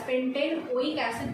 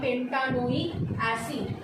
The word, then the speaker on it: pentanoic acid: If this E is there, then we cannot pronounce these together, as pentane oic acid will be the pronunciation. To pronounce it together, to merge it together, the E needs to be omitted out and it should be written as pentan oic space acid. Now this thing has been merged together and the pronunciation has become pentanoic acid.